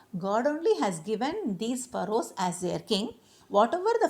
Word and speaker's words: pharaoh: So, the Egyptian kings were called as pharaoh, okay. You need to pronounce it as what? Pharaoh, Pharaoh, okay, pharaohs.